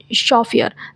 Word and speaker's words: chauffeur: शॉफियर, वन who drives a motor car, जो motor car चलाता है उसको शॉफियर बोलते। स्पेलिंग देख लो, CHAUFFEUR, शॉफियर। ठीक है, इसका COMPERE कंपेयर होता है।